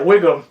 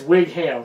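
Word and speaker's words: Whigham: silver lions playground yeah wiggum okay or wig ham i don't know if you should advocate it it's wig ham that's how slavication works that's how it is a two syllable last name uh so anyway william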